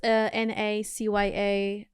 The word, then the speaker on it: Nacya Marreiro: NACYA_MARREIRO, and that's my name. Nacya Marreiro, I say it right? You said it perfectly.